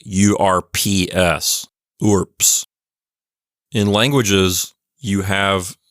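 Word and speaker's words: urbs: there next we have orps orbus which means City that's a feminine noun from what I've read in textbooks the way you're supposed to pronounce this word is like urps ORS in languages you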